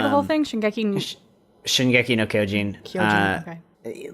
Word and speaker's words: Shingeki no Kyojin: Shingeki no Kyojin.